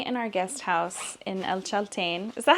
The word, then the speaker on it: El Chaltén: Okay, so I'm sitting in our guest house in El Chaltén. Is that how you pronounce it, Keri? Is it El Chaltén or Chaltén? El Chaltén.